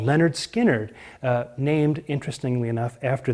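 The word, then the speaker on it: Lynyrd Skynyrd: uh 197 through their first album is called pronounced Leonard skinnard and of course the big song on that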